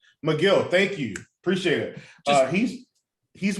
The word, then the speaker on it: Megill: So, yeah, I think one of my favorites is going to be Tyler Megill or Megill. I do want to pronounce it right, but he's one of McGill.